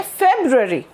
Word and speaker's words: February: आप इसको कैसे बोलेंगे, आप इसको बोलेंगे फेब्रुअरी, ओके। ये इसकी प्रोनाउंसिएशन है, फेब्रुअरी, ओके।